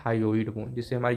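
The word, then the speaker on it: hyoid: गई उस उसके बाद एक बोन आता है हायो इड बोन जिससे हमारी जो टंग होती है वो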